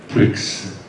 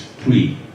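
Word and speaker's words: Prix: workbench for it because it's actually not pricks it's free roam free it's French right so creepy are double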